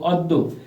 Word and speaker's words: অদ্য: double হয়ে থাকে viewers এখানে দ এর পরে জ ফালা আছে তাই দ দুইটা অদ্য ভিউয়ার্স পরেরটি আছে